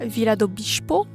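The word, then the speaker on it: Vila do Bispo: Puis en ce moment, je suis à Vila Bichpo si je me fie à comment la fille le prononcé ce matin.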